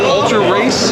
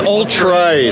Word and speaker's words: Ultrace: Is it Ultra Race? It's Ultrace. Ultrace. Ultrace. Learn how to pronounce it.